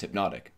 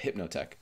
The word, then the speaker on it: Hypnotech: I thought it was pronounced Hypnotic, but Hypnotech.